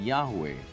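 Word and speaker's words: Yahweh: ang kanilang sinasabi sak ni jeova Sabio p pronunciation yahwe as the more correct way we have retained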